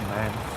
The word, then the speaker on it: MAN: Not a fan of the man.